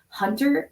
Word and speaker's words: Huntr: But there's also some online tools like Hunter. It's spelled HUNTR.